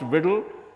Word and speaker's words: WDL: It's pronounced WDL and it stands for Workflow Description Language.